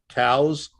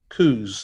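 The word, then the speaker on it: Coues: and uh here's a coos deer and it it from what i read the the person who named it pronounced it cows but it's become coos like c-o-o-z and they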